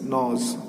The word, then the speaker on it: gnaws: ग्नॉज, GNAWS, नॉज। जी का silent रहेगा यहाँ पर और इसका प्रोनाउंसिएशन क्या होगा? नॉज, यानी कुतर देता है वो।